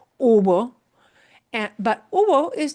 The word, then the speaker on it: hubo: It is hubo. It sounds like U-B-O, but the H, of course, is not pronounced. Hubo.